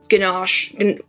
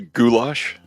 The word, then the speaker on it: goulash: time I went it was like a a ginache. I always say it wrong. And like a salad and bread. I know I didn't say it right. Probably. Um are we trying to say goulash?